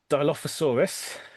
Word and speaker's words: Dilophosaurus: It's got a little Dilophosaurus. That's how one pronounces that name.